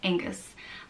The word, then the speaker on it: Oengus: It can be spelled with an O or an A. E-N-G-U-S. Oengus.